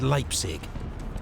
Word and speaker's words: Leipzig: heaviest ever defeat at Leipzig the battle of the nation okay Leipzig I think I've been pronouncing it leap City this whole time so now I'm correcting myself Leipzig Leipzig one of these